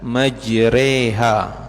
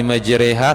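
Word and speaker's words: مجراها: surah Hud itu Bismillahirrahmanirrahim bacanya bismillahi majreha, ya. Bismillahi majreha, tulisannya memang majroha.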